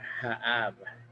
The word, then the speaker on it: Haab: in the Mayan language, it's called Haab. Haab is spelled Haab, and that's the agricultural calendar.